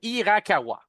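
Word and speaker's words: Hirakawa: nom je ne suis pas capable de le prononcer pour l'instant je m'en excuse à c'est Irakawa Irakawa donc monsieur Irakawa était censé Rio Irakawa Rio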